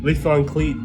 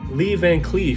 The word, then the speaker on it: Lee Van Cleef: um very great movie um it's got um leaf on cleat sorry i had butchered his name that legend leave it lee van cleef from um the good the bad and ugly